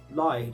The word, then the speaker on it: Lied: uh was elf and leed now um or lied if you want to pronounce that correctly it's me because it's german for some um it was just